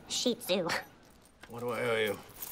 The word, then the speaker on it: Shih Tzu: So this is a shit tzu. It's pronounced shih tzu.